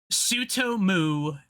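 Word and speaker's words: Tsutomu: Uh, uh, to, Sue, oh god, he's got one of those Japanese names that's hard to pronounce because it starts with a T-U and an S, or a T-S and a U. Sutomu Nihai.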